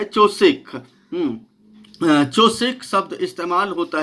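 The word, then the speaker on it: חושך: चोसेक शब्द इस्तेमाल होता है और उसका उच्चारण जो है खोसेक करते हैं। खोसेक खोसेक ऐसे करके, मतलब क्योंकि गले से बोला जाता है ज़्यादातर, तो खोसेक वैसे उसको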